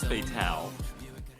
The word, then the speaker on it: Fatale: We have, is it pronounced Fatal or Fatale? From I Oshidoko. think it was Fatale, Oh my god, I'm so stupid. like femme fatale, perhaps.